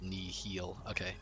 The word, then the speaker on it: Nihil: Nihil is pronounced nihil.